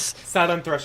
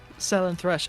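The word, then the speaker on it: Slaanesh: This is Sen Thresh is correct. Senth Thresh. Okay, good.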